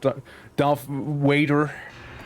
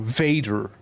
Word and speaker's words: Vader: I call myself D waiter. So, Vader. I need to annunciate the V a little more. Vader.